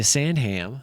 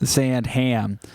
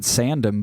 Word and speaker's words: Sandham: But not this one's from Anastasia Sandham. Sand Ham as we pronounce it. Probably other people pronounce it sandum, but we're going to say sandam. Sandham. We make sure to pronounce all the h's.